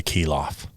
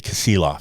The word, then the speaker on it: Kasilof: to go to Soldotna and fish on the Kilof, right? Kasilof? Yeah. Yeah. How do you pronounce it again? You're talking about going down to Soldotna and fishing Yeah. the Kasilof River? Yeah, the Kasilof.